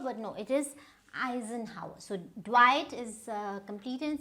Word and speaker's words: Eisenhower: Now what do you think you would pronounce it as? So you might say Eisenhower, but no, it is Eisenhower.